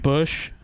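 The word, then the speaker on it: Busch: b-u-s-c-h league you're right is it bush it is it's e-boo if you're gonna use bush league spell it right it's not president bush it's bush as in like bush beer right apparently spelled like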